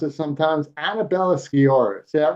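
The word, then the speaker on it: Annabella Sciorra: her name because it's hard for me to pronounce it sometimes Annabella skor is that right that's right that's perfect thank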